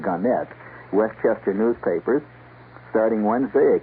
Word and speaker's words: Gannett: Gannett, or Gannett, they prefer to pronounce it Gannett, Westchester newspapers.